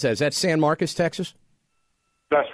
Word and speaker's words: San Marcos: Let's go to Michael in how do you pronounce that? Is that San Marcos, Texas?